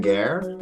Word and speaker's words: Geher: My name is Geher, last name rhymes with hair, and I teach in